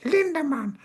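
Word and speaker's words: Lindemann: Um my two is uh Linderman because that's how you say it. Linderman.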